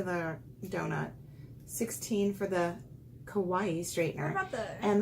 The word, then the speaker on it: kawaii: Kawaii. How do you say it? Kawaii. Kawaii. Like Hawaii with a K.